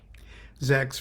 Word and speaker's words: ZAX: Zach's the difference yes there's a difference between Zach and Zacks Zach's rhymes with sex thank you okay what